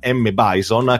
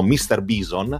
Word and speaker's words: M. Bison: ai giorni nostri, perché alla fine per noi M. Bison, che molti pronunciavano, almeno molti amici che conoscevo pronunciavano Mr. Bison, ai tempi è il boss praticamente finale, quindi